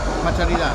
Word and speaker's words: Patcharida: Patcharida.